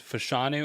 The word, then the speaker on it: Fashanu: good offensive lineman prospects faga you know fanu fashanu I I I never get those pronunciations right it's fashanu and falanu um but I always like mix